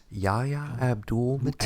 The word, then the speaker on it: Yahya Abdul-Mateen: How do you pronounce his name? Yahya Abdul-Mateen.